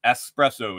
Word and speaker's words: espresso: Espresso, it's not espresso. When you talk about the little cup, the little hot concentrated shot, it's espresso. It's spelled E-S-P-R-E-S-S-O. Man, don't ax your mother. Just keep the X out of espresso.